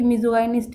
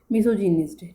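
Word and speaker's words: misogynist: तो ये मिज़ोगाइनिस्ट है, लेकिन जो इसका एक्चुअल प्रोनाउंसिएशन है जो दिया गया है वो यहाँ पे है मिसोजिनिस्ट। ठीक है, जो मिसोजिनिस्ट इसका प्रोनाउंसिएशन है, लेकिन हम इसको मिसोगाइनिस्ट बोल देते हैं, कोई नहीं।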